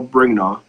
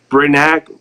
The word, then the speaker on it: Brignac: And she sent me to a guy named Carl Brignaw. I think I say his name right. It's Brignaw, whatever. What is it? Brignac.